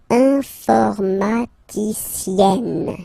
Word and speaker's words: informaticienne: And you get the sound informaticienne. Sienne. Remember, E and then double N, or then it could be double L or double consonant here. You open your E, so it's E. Informaticienne.